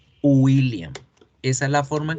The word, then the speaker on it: William: La W es una U. Entonces, las personas cuando dicen William en español, están pronunciando mal, porque nosotros en español tendemos a hacer la W como el sonido de la sílaba gu, William, y no es gu, es una U, William, William, William, ¿sí?